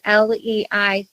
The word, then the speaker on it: Leicht: So yes, I'm Leicht, Leicht. So it's a German background, so it has the CH in it. But you pronounce it just like sunlight or light bulb.